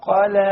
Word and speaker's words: قلى: ما ودعك ربك وما قلى. Notice the kaf and the qaf. ربك وما قلى. Ka, qa. Notice this is one of the most common mistakes, is that the qaf is mispronounced.